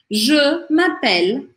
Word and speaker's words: m'appelle: Je m'appelle, então aqui, m'appelle, para o som no L, o E no final não é pronunciado.